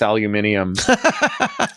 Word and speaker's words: aluminium: wife about whether it's aluminium. She's British, I take it. Or who's who? She's British. Yeah. Aluminium. But you're Canadian. Don't Canadians say aluminum? We don't insert random syllables.